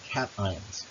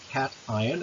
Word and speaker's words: cation: Positively charged anions, or positively charged ions, are called cations. And again, this is pronounced cation. It's not pronounced cation, but positively charged cations.